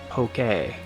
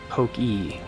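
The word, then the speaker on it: Pokémon: point um has like the upward horizontal slant over the E because it's poke a it's not Pokey or poke poke guye like or Pokey you know it it's it's to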